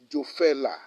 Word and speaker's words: Jofelah: was that holy name the only name is jofella again joe fella again jew fella jo fella let me spell it for you j o l sorry let